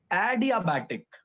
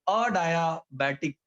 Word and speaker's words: adiabatic: उसको प्रोनाउंस करना मेरे लिए भी बड़ा डिफिकल्ट हुआ करता था. When I वाज इन 11th standard, first time मेरे से जब बोला गया था तो मैंने भी यही बोला हुआ था. ये सर ने मेरे को प्रोनाउंस करके दिया था डायाथर्मिक वॉल, तो मैंने बोला हुआ था अडायाबैटिक वॉल.